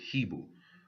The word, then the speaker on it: Hebel: It says, And Qayin talk with Hebel. Qayin and Hebel is just the Hebrew pronunciations of their name. Cain and Abel is more of the Greek pronunciation. And from Greek, they transliterated it into English.